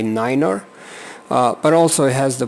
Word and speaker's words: niner: the difference is just instead of nine you say Niner but also has the